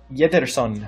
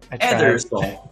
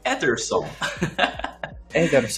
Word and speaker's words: Ederson: Yederson. Oh, yes. Speaking of... sorry, Antwan, that was like a three in terms of pronunciation. I tried. Ederson. Ederson.